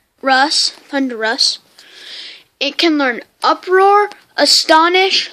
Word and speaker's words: Thundurus: It is pronounced Thundurus. Thundurus.